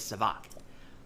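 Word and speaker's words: Sav'aaq: Young Gerudo use ça va all the time, but technically the official way to say it is savak. The va part is pronounced by biting your lip as you say it. Va.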